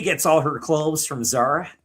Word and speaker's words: Zara: She gets all her clothes from Zara, which is actually pronounced Zara because it's Spanish.